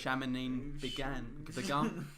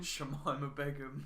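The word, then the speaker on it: Shamima Begum: Shaminin Begun. How do you say her name? Shamima Begun. That's it.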